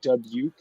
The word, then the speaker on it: Dubuque: It's pronounced Dubuque.